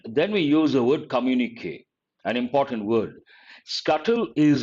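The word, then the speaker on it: communiqué: so many words uh communique careful with how you pronounce it here above the letter e there should be a stroke communique is also a noun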